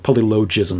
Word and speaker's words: polylogism: So he defines this word as polylogism, or polylogism, I've heard it pronounced, but logos. I use the hard G.